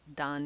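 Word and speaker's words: 段: This kanji is pronounced dan. It means a level.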